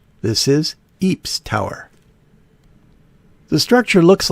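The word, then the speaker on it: Ypres: it but this is England and the local pronunciation here in Ry is Eeps this is Eeps Tower the structure looks like the classic Castle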